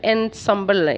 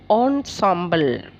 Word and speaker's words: ensemble: instruments no but all traditional in sambal traditional in Shambala it's pronounced sorry ensemble all consider as a group ensemble of nine